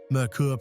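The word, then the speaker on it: Merkur: Mercur pronounced like Mercury, but in German based on the European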